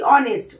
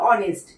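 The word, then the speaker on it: honest: এই এসটি অনেস্ট ও থেকে উচ্চারণ হচ্ছে। অনেস্ট এইচটা এখানে সাইলেন্ট আছে।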